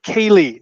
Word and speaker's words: Kaylee: Mention that it is Kaylee, not any other mispronunciation of what is a beautiful Irish name.